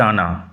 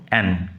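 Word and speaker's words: Anne: ই উচ্চারণ লক্ষ্য করো ফরাসি ভাষায় উচ্চারণ হচ্ছে আনা কিন্তু আমরা উচ্চারণ ইংরেজিতে আমরা উচ্চারণ করব এন সি রোট নিউমারাস নোবেলস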